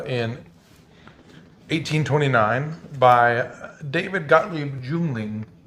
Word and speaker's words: Yuengling: yangling was started in 1829 by David Gottlieb juling pronounced youngling uh from uh aldingen near Stuttgart Germany which